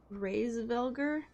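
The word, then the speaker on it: Hraesvelgr: say it praise vulgar the h is silent reyes vilger or at least the h or taja praise vilger phrase foreign yes i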